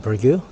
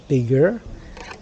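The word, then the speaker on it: Begur: we finished lunch at buru no not burgu so we finished lunch at biger and uh I think that's how you pronounce it and we are in satuna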